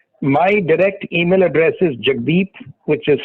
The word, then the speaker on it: Jagdip: But if any of you are interested in daily updates, my direct email address is Jagdeep, which is spelled Jagdip, J for Japan, A for Apple,